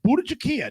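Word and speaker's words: Bhut jolokia: Number 8, the ghost pepper, Budachikia.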